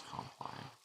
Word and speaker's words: Compline: And now it's Compline. Or Complin, depending on how you pronounce it.